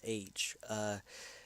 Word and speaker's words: Loesch: But the one of the big wigs at Marvel Productions, Margaret Loesch, or however you pronounce it, it's Loesh.